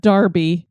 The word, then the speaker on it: Derby: on this one because I had no idea that Derby would be said Derby with an e I didn't even cross